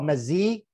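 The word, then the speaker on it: meze: It's actually called mezzi. Greeks pronounce all their vowels.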